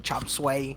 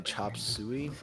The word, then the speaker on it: Chop Suey: How do you pronounce it? Is it sway or suey? Suey. Yeah. Cause my friend was saying chop sway, and I'm like, no, it's Chop suey.